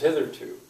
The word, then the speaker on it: hitherto: There it is, hitherto. Hitherto. How many syllables? Hitherto. And which one is stressed?